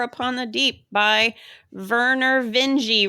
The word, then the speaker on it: Vinge: the Deep by verer Veni rhyme with dingi I had to put that in my notes because I have such a hard time remembering if it's Veni now that I know it's not vinge then I get stuck